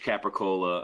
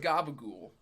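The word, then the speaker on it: capicola: I mean, there's only so much capricola a man can consume. I believe it's pronounced gabagool. Is that right?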